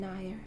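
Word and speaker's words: nathair: have the Gaelic word for adder here with pronunciation nyah-nyah keywords transformation healing and life energy the meaning Nayar offers healing and transformation its ability to glide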